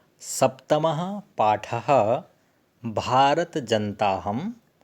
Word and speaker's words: भारतजनताऽहम्: अग्रणी हो गया हनी इसको जब हम उच्चारण करेंगे तो यह साइलेंट हो जाएगा तुम भारत जनता हम ऐसे उच्चारण करेंगे है और अलग-अलग बोलेंगे